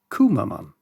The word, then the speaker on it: Cwmaman: This is a village in Wales, spelled like this, but pronounced something like Cwmaman.